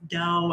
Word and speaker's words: DAO: Okay, so DAO, that's how you say it, is DAO, and it makes me think of like, I don't know, some sort of meditation word.